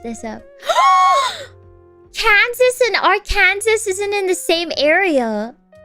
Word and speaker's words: Arkansas: but for some reason they say Arkansas like what it's a French pronunciation for Arkansas oh oh okay I